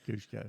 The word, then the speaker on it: Cusco: Cusco, right? Yeah. Cusco.